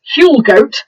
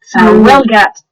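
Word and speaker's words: Huelgoat: Huel goat is what it looks like. That's what it's spelt like, is Huel goat. But Welgat is the way Welgat, that yeah. some people say it, and some of them have more of a gwat than a gat.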